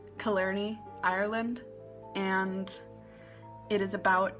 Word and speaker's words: Killarney: So it is taking place in, from what I can gather, it is pronounced Killarney, Ireland, and it is about a song, a